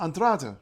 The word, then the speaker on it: Andrade: know Portuguese and then if you know Portuguese from Portugal you think oh well andr right because the E becomes an uh at the end of a syllable and just end of a word sorry and just gets clipped short but in Brazil that